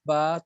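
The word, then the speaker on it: باء: ফা হবে আলিফ আলিফ বা টা উচ্চারণ হবে আপনার দুই ঠোঁট থেকে ঠোঁটের ইয়া থেকে বার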